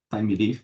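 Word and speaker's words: Thymeleaf: é o time leif time leif embora a pronúncia seja time leif não é tempo né é time isso aí né tá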